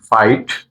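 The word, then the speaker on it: fight: এইচ টি লাইট এফ আই জি এইচ টি ফাইট ডব্লিউ ই আই জি এইচ T wait wait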